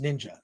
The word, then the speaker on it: Ninja: she her first name is ninja and it's pronounced ninja that's her name so she worked on this